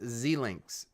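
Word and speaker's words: Xilinx: It's pronounced Zlinks.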